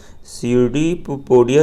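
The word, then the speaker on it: pseudopodia: ये जो पाइला है इसमें आपका जो सीडी पीपोडिया होता है, पी इसमें साइलेंट होगा, सीडी पीपोडिया जो होता है इसका जो आपका फंक्शन होता है पाइला में वो होता है आपका रिस्पायरेशन का।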